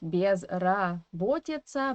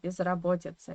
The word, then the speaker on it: безработица: This year, in the first syllable, is in unstressed weak position, of course, and we have to pronounce it as E. Not безработица, but безработица, yeah?